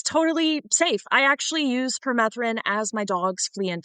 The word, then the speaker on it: permethrin: So the fact that you can use, can you pronounce the name one more time? Permethrin?